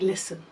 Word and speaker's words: listen: it's a difficult word like listen which has a silent t you might write list